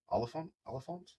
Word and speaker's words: Oliphant: Oliphant?